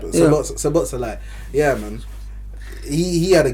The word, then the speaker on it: Szoboszlai: Szoboszlai had other midfielders next to him, so he moved up more.